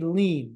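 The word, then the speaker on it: lien: compensation insurer has what's called a lean that's spelled l i n and that is a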